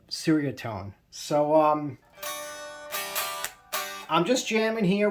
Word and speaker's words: Ceriatone: But if you say Cheerio tone, it just sounds like you're trying to speak like a Malaysian as a gringo, as a stupid American. And I'm not in that class, so I'm going to say it like another stupid American, Ceriatone.